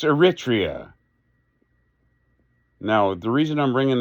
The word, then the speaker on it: Eritrea: to stop doing it it's not Eritrea it's not eritaria it's Eritrea now the reason I'm